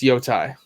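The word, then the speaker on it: Yōtei: It's Yotai. I didn't. Ooh, Yotai?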